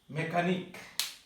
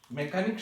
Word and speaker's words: mechanic: এরপর হচ্ছে মেকানিক। মেকানিক শব্দের অর্থ হচ্ছে মিস্ত্রি। MECHANIC। এখানে কিন্তু মেকানিক মিস্ত্রি, এখানে এর শব্দটি এই শব্দটি আছে কিন্তু উচ্চারণ হয় নাই।